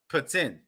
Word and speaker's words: poutine: yeah but in quebec in quebec it's pronounced putin putin yep basically the russian president yep but you know